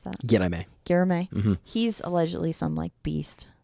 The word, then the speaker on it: Guilherme: How do you pronounce that? Yeah, I may. Guilherme.